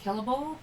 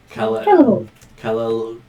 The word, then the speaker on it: Caelivor: So it's probably like possibly like Calibar. It's possibly a hard C. Quite possibly. Calibar.